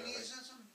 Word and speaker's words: Jainism: Jainism? No, Jainism. J-A-I-N. It's also Jain.